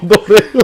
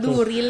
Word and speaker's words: Dorel: Ano na naging Dorel? Pero lain ang spelling niya. Nabasa ba na Duril niyo pronounce ang Y mo, ang tako niya E, so Dorel.